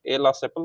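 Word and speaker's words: Aix-la-Chapelle: ऑफ एक्सला एक्सला sepal, चैपल भी बोलते हैं, सेपल भी बोल सकते हैं, प्रोनाउंसिएशन फ्रेंच में अलग हो गई तो एक्स ला सेपल बोलेंगे, ए ला सेपल बोलेंगे, या आप बोल सकते हैं एक्स का चप्पल।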